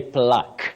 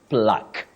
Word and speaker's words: plaque: do we say it oh you say plaque not plaque Q plaque to unveil the plaque okay not PL Q the U and E in that word are silent the two last letters are silent so you simply say